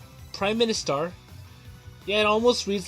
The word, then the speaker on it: PriministAr: in a sense so this game is called Prime Minister yeah it almost reads like from the star but that's how they pronounce it and it's from hook soft and